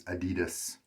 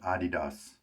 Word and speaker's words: adidas: a youtube video that it's actually a german company and adidas something like that is really how it's pronounced in its native tongue so how about that